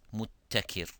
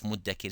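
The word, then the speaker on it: مُدَّكِر: So when we look at this letter dal, because of the letters are mainly similar to ta, some may pronounce it as muttakir. instead of muddakir.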